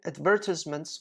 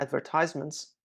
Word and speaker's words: advertisements: Eye-catching advertisements or advertisements, both pronunciations are fine, among different media that have encouraged people to purchase their necessary items from international and online companies.